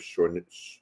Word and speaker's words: Chouinard: And my character is the great a guy named Joseph Chouinard, but it's French.